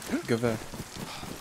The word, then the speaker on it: Gewehr: Oh, Gewehr 43. Is that how you say it, Gewehr? Yeah, Gewehr.